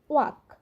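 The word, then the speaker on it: walk: একইভাবে আরেকটা নিয়ম আছে দেখুন, এল যদি কে এর আগে থাকে সেক্ষেত্রে উচ্চারণটা হবে টক, ওয়াক।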